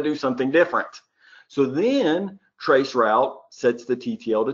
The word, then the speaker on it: Traceroute: Well, that's exactly how the Windows Traceroute application works. Now, this is Traceroute or TraceRT. This is not TracerT. I'm not going to pronounce it that way, and shame on you, any of you who are laughing right now.